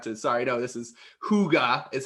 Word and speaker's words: hygge: to i had to sorry now this is hygge is how it's pronounced but it's spelled h-y-g-g-g-e which is indoor